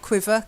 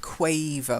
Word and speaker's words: quaver: you ah that's it not quiver quaver with a long a okay now the next